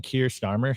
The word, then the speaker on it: Keir Starmer: Keir Starmer said, the prime minister.